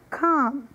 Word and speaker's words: calm: pronúncia de talk, chalk, calm. Nessas três palavras nós não pronunciamos a letra L.